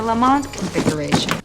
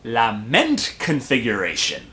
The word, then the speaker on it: Lament Configuration: And even if they did, I never opened the lamont configuration. Lament configuration. Oh, I'm pretty sure that's the proper pronunciation.